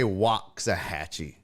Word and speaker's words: Waxahachie: And he even asked, is it Waxahachie? They say Waxahachie.